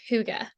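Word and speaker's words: hygge: it's pronounced higgy or it looks like higgy but it's pronounced Huga okay so um my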